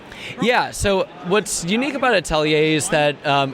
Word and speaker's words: atelier: It's Atelier. It's a French word for like an artist studio.